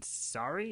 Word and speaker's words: Sari: and Gabe falls in a hole, and then Sari, is that how you say it? Yeah, Sari.